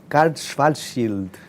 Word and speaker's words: Karl Schwarzschild: There’s a scene with a scientist which, of course, I'm going to mispronounce, and I hope you correct me, which is Karl Schwarzschild. You say it, please. Karl Schwarzschild.